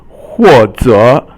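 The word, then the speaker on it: 或者: 或者 means or perhaps.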